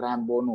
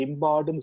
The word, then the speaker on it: Rimbaud: ஆனா உச்சரிப்பு நீங்க ஆர்தர் ராம்போன்னு தான் உச்சரிக்கணும் பிரெஞ்சுல, ஆர்தர் அது உங்களுக்கு தெரியும், ARTHUR ராம்போ. அத வந்து நீங்க உள்ளவங்க எல்லாம் ரிம்பார்டுன்னு சொல்லுவாங்க, அது தப்பு, கொலை.